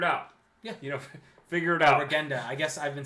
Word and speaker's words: Regenda: Connor's saying hard G. Oh, damn it. Regenda. There we go.